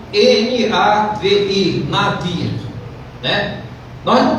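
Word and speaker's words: נביא: para profeta é Nabi se escreve Nabi mas se pronuncia na v i na Via né Nós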